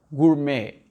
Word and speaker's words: gourmet: ET à la fin, ça devient E. Et ça, c'est un mot français, donc ça donne gourmet, gourmet.